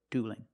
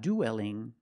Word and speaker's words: dueling: vowels in the word dueling and it's not duelling don't pronounce that e it's one sound o plus a dark L duel and dueling let's